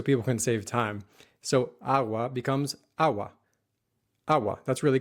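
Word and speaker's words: agua: to say a a that's because the G in AWA is not the same as the G in or when a g follows a vowel or any consonant besides n it turns into a soft sound in American English we get a similar sound when we say the word sugar quickly sugar sugar and when a common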